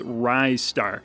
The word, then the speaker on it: Ristar: But I finally decided I wanted to just call it Ryar because it sounds like Rising Star and that makes me feel good.